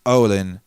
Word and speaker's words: Olin: where is he chris olin rhymes with odin and he doesn't really